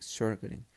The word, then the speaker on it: Sjögren: Bueno, ahora vamos a hablar sobre el síndrome de Sjögren. Bueno, según yo se pronuncia así.